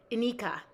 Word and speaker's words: Inika: Okay, emphasis on first syllable. Inika, Inika, Inika. I love it. Inika. It's a schwa vowel.